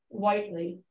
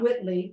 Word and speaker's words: Whiteley: pronounced different ways so the marriage named is Whiteley but it's got the two e's in it Whiteley not Whitley white correctly tell us about